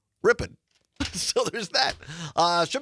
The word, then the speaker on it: Ripon: And also our great partners to be R P N in Ripon or as the locals say, Ripon.